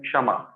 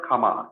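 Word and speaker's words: क्षमा: And Khama means Kshama. It's not Khama, it's Kshama.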